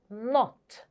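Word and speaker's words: knot: and the next is not not remember is the n Sound forget the K because there is no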